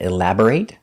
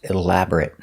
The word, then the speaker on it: elaborate: closer sometimes it's pronounced elaborate like a verb and sometimes it's pronounced elaborate for an adjective we saw in a